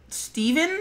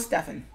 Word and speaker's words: Phteven: So we're gonna go with Stefan. Art of Stefan. I guess that's what we'll go with. But it's like all of the changes. Steven. Oh, so it's pronounced Steven. Okay, so it's not Stefan.